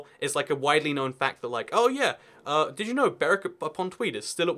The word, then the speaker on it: Berwick: But still, this is Berwick upon Tweed. You might think it's Berwick, or and logically so, but you would be wrong, dear sir.